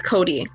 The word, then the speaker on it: coati: is a collection of Coatis. Am I pronouncing that right? No? Are you speaking English? Coati? Lyra? Coati? I think it's Cody, as in Kotabundi.